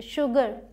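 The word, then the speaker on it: sugar: यहाँ पर एच नहीं है, फिर भी इसे हम श प्रोनाउंस करते हैं, एक्सेप्शन समझ लीजिए, शुगर, शुगर केन, ठीक है।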